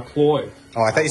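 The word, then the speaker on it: Cloyes: Cloits. Okay. Cloits. That's a cloit timing chain. There's no T. A cloy.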